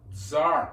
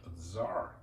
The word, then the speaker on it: Tsar: Just at front of the Senate building, we have got the gigantic cannon, Tsar cannon. By the way, word Tsar is the way medieval Russians pronounced Caesar, so that's a royal cannon.